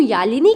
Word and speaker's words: Yazhini: For example, अगर मैं कहूँ यालिनी की स्पेलिंग तो हम वहाँ पर लिखेंगे YALINI, लेकिन यहाँ पर लिखी जाती है YAZHINI।